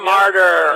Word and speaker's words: Marter: Yeah, my dad always said they prayed for us in church for all the martyrs and the saints. So we're spelled with a T-E-R, not a T-Y-R.